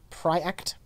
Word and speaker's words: Projekt: in CD Projekt RED it's pronounced pry act said the project react whatever whatever I don't give a about that it looks like projects and we're American so